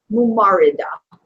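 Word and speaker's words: ممرضة: Let's see, it's mub now, so it'd be mubarida. Mumarida. Mumarida. It's a mumar. Sorry, mumarida. Mumarida. So mumarid for a male, mumarida for a female. And mumarid or mumarida means a nurse.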